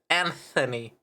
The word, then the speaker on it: Anthony: Technically, but it is supposed to be a th sound, so it's Anthony. That's what the TH is.